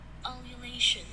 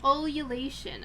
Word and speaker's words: ululation: Can you just, like, supply me with the pronunciation, please? Yeah, there we are. Hold on. Ululation. Ululation, okay.